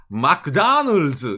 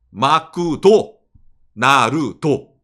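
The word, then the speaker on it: マクドナルド: 그러면은 일본에서 카타카나 쓰면은 미국 발음이 맥다널드니까 마크다널즈 이런 식으로 쓰면 되겠네 라고 후지타에게 먼저 얘기합니다. 미국에서. 예. 마크다나르즈. 마크다나르즈. 근데 후지타가 얘기합니다. 마크다나르즈는 일본에서는 조금 뭔가 좀 기분이 이상하지 않나요? 그래서 후지타가 얘기합니다. 저기 레이 선생님 일본에서는 화음이라는 표현을 씁니다. 일본어에도 음표가 있어요. 일본은 3, 5, 7로 나뉘는 이런 식으로 음표를 발음을 하는데 대기 말한 마크다널즈라고 하면은 나뉘어지지가 않네. 그러면은 3, 3으로 나눠봅시다. 마쿠도, 나루도 어떻습니까?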